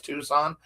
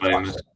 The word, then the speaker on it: Tucson: I know it's Tucson, but I had a friend that called it Tucson. Well, I told him it was Tucson. He was like, "What?" I was like, "Yeah, the C is silent, dude."